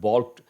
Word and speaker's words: balked: The amended Motor Vehicles Act makes all this possible, but many state governments have balked at enforcing it. Balked, L is silent.